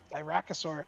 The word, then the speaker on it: Aarakocra: Okay, yeah, so the remind me the pronunciation of this one again. Aarakocra.